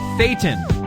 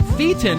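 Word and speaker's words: thetan: the way stands for operating Fon not feton like it said in that in that movie or in that uh that's said in the Satan and I almost said rhymes with Satan but I held back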